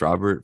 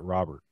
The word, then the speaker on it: Robert: go off this year it still blows my mind that you pronounce it robert like that's actually how you you're supposed to pronounce it uh well it feels like it should be robert or something like that does it